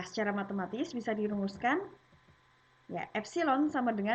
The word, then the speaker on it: epsilon: seperti ini ya tinggal seperti ini nah ini dibacanya adalah epsilon ya epsilon tutorial ragangan tapi itu nah hai eh gambarnya